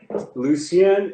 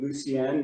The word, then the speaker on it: Lucienne: Is Lucienne all right? Lucienne is right. It is a, okay. It's basically, it's a French name, Lucienne, meaning light, just like Lucia.